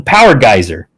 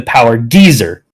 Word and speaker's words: Power Geyser: He has a move called the Power Geyser. And for the first century of his existence, that move was actually the Power Geezer in the way that he shouted it.